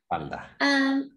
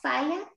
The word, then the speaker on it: falda: Falla. Tengo una. Falla. Tengo. Una. Falla. How do you say it? Falda. Falda. There it is.